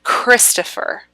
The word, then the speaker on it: Christopher: with his name right christopher the emphasis goes on the first syllable christopher right if i were